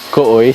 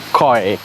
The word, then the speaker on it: Kooi: Dan kenapa ejaan dia kooi? Sebab dia K-O-O-I, bukan koi.